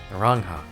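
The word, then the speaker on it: Naranja: Narangha.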